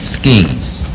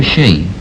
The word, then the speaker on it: ski: Number one, is it pronounced ski or she? Ski in the United States. And in Europe? She.